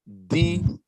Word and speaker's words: Deek: And then I want you to write Deek. And that means Eek. Yeah, D is in Derek, E is in eat, E is in eat, and K is in king.